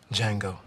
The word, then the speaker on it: Django: he what's your name Django the D is silent